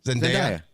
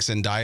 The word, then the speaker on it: Zendaya: Zendaya?